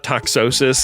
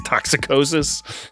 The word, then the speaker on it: toxicosis: Toxicosis sounds like they added an extra syllable to make it worse. You know, it's not toxosis, it's toxicosis.